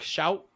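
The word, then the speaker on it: Shough: How the hell do you say his name? Shock. Shout. Tyler Shuck. Shuck. It's Shuck. Yeah, he's dog [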